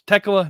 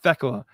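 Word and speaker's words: Tegla: And yes, there's an H in the name, but it's silent. If you listen to the commentary, they pronounced it Tecela last night. It's Techla, not Tecla.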